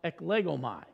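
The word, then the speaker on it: ἐκλέγομαι: Same word, or same root word in the Greek, and it is pronounced eklegomai.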